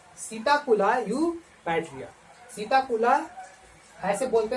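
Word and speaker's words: Psittacula eupatria: है, पैरोट का है, देखिए पी साइलेंट है यहाँ पर, इसीलिए इसका है सीताकुला यूपैटिया। पी को छोड़ करके बोलेंगे सीताकुला यूपैटिया। नहीं तो आपको आप लोग याद करते रहना झूठे मूठे, पसीताकुला यूपैटिया, पसीताकुला यूपैटिया, कुछ ना होगा, है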